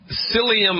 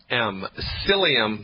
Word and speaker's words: psyllium: So psyllium husk powder, and you spell that P like Peter, S like Sam, Y like yellow, L-L-I-U-M. Psyllium, the P of course is silent, husk, H-U-S-K, powder.